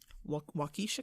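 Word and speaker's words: Waukesha: to the county I won't even try to pronounce what that county is wakisha what it is wakisha County wakisha so there they go into the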